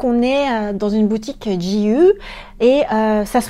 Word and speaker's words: GU: En vrai, c'est comme c'est un G et un U, ça se prononce à l'anglaise et du coup en japonais tu allonges tout, c'est GU.